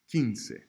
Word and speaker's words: quince: K is always pronounced like the English word que. K. Key, Q-U-I, is always pronounced like the English word key, like what you put in the door.